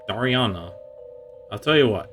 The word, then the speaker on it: Dariana: name right I mean I think I've been pronouncing a bit differently before this game I think it was like Dar Daria Dara but yeah it's Dariana I'll tell you what